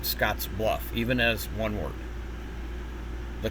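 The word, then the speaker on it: Scottsbluff: Um, other synthesizers will pronounce it Scotsluff, but it's actually pronounced Scotsluff even as one word.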